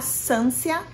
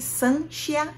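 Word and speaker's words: Sancia: gente vai conhecer a Sansia. Gente, eu vou chamar de Sansia, mas eu acredito que se pronuncie Sanchia, mas Sansia acabou o jeito que eu acabei lendo e grudou na minha memória, tá?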